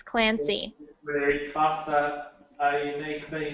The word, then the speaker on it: Clancy: So when you were reading, I only heard Clance. So just make sure you pronounce those Y's, Clancy.